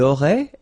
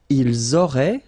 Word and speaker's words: auraient: Ils auraient, so liaison here. Elles auraient. And then look, if you've got A-I-E-N-T, then phonetically it goes like aurait.